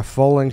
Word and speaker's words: Fowling: Foaling is wildly popular in the Midwest, where it all started, and it's taken the nation by storm.